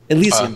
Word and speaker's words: Elysium: I can never pronounce it a lot. Elysium.